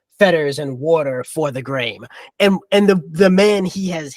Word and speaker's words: Graham: Malcolm Graham, whose name is pronounced Graham, in the way it's named, rhymed in the poem.